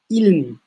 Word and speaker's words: ilm: Biz tabii şöyle bugün ilim diye i sesiyle söylüyoruz. Aslında bu kendi ifade tarzı içerisinde Arapçada ilm, yani L'den sonra i yok.